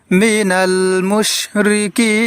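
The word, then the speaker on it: مِنَ الْمُشْرِكِينَ: তাহলে দর্শক, এই শব্দটি আমরা শুদ্ধ উচ্চারণে এইভাবে পড়ব, মিনাল মুশরিকিন।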